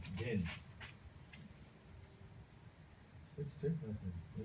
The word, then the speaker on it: dhin: Then the fourth one is dhin. Capital D, small h, small I, small n. Dhin.